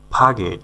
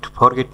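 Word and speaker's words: forget: ফাগেট ফরগেট না ফাগেট ফাগেট সঠিক উচ্চারণ ফাগেট মানে হলো ভুলে যাওয়া।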